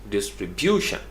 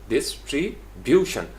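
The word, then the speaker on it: distribution: इतराज़ नहीं है, लेकिन वो एग्जैक्टली इसको कैसे करते हैं, डिस्ट्रीब्यूशन, डिस्ट्रीब्यूशन यानी सेकंड लास्ट सिलेबल पे, यानी बिल अमूम ऐसा होता है।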